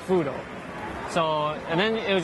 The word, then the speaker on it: Fuudo: But if you know Japanese, like the katakana spelling, it's just easier to say, the pronunciation becomes Fudo.